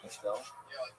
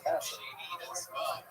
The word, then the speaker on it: Castle: No, obviously it's Castle.